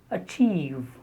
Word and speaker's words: achieve: The third word is achieve. It is not achieve, it is achieve. Normally, when the stress is on the second syllable, and if the word begins with a or ab or ad, then very often the first sound is a. For example, advise, appeal, achieve.